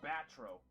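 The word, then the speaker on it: Batreaux: Oh, it's pronounced batro.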